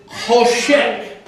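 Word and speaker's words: choshech: The ch has the the guttural sound like you're hawking up a loop.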